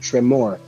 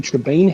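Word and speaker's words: Tremaine: Last time you were here, I pronounced it wrong. I said Tremor, but I think it's Lady Trebain house.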